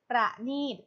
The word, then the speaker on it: ประณีต: คำ ว่า ประณี ประนอม หนี้ ต่าน ว่า ประเนตร ประณีต ประกอบ ไป ด้วย ปอ ปลา ค่ะ รอ เรือ